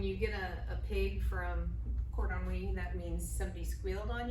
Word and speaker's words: cordon bleu: Yeah, where's cordon bleu? I was gonna say you Something like maybe mispronounced it because most people call it cordon wee.